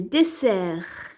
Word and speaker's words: dessert: Maintenant le dessert ou là le désert. Le dessert on entend S.